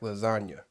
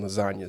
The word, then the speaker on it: lasagna: And then obviously there's a silent G in lasagna.